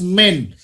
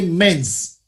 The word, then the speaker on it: men: men plural men men the pronunciation is men M please never say men's okay why we will